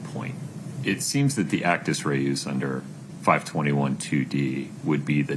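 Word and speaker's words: actus reus: Did you just say ruse, not actis rees? I uh vehemently disagree with that pronunciation of actis rees even if the court is correct.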